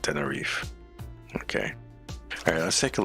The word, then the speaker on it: Tenerife: The last E is silent. Tenerife.